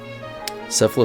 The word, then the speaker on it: Sephla: island and sephla Lake sephla sounds like kefla well it Rhymes so anyways this is